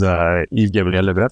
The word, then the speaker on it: Yves-Gabriel Leboeuf: So my name is Yves-Gabriel Leboeuf.